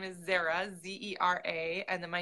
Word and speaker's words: Zahra: o n my yeah my middle name is Zahra ze RA and then my youngest is azalea which is spelled like the flower nice nice yeah yeah